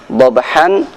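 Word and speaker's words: ضَبْحًا: Hamzah di belakang ketika ditanwin fathah maka cara membacanya dibaca fathah panjang. Baik huruf hamzah tersebut disudahi dengan alif ataupun didahului dengan alif, maka huruf hamzah dibaca dengan bacaan panjang.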